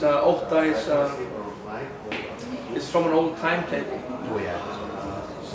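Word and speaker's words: Ótta: So the latest album, Ota, how do you pronounce it? Ota.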